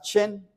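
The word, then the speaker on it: שן: La palabra dientes en hebreo, la palabra dientes se pronuncia como esta palabra chen chen, así chen, como si fuera chino, chen.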